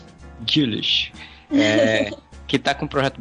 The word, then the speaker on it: Güllich: Como é a pronúncia? Gulich.